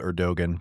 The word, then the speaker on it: Erdoğan: been under President Erdogan spelled Erdogan pronounced Erdogan.